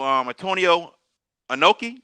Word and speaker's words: Antonio Inoki: So Eric Bischoff had just taken control of WCW, and he talked to Antonio Inoki.